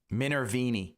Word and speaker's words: Minervini: Minervini, that's how you say it.